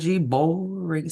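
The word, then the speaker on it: Boreing: pronouncing it wrong but b o e r i n boring sounds like boring to me and I think that's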